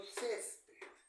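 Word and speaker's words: césped: se tide por ejemplo cespet cespet la mayor fuerza de voz está en la penúltima sílaba si lleva tilde Porque esa palabra No termina ni en N ni en s ni en vocal mármol Dónde lleva la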